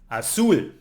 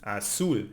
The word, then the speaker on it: azul: But we have also all other consonants, and here, all other consonants except N and S, then we need to emphasize the last syllable, like azul, blue, azul ends in an L, it's not N or S, so we need to emphasize the last one, azul.